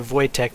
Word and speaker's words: Wojtek: than a Czech thing, then it's probably more Wojtek than it is Wojciech.